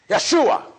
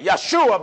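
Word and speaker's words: ישוע: Jesus the Hebrews say Yeshua the reason why they say Yeshua because one there is no Jace in the Hebrew grandma Joshua is pronounced in Hebrew Yeshua yahshua is the name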